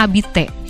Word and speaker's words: habiter: juga tuh kalau habitatnya Kenapa Bu tulisannya kan habite tuh kenapa habiter bacanya abite seperti dalam Ours bahasa Inggris Ours apalagi first